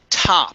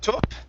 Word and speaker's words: top: Okay, this word here is pronounced top with an ah sound instead of top.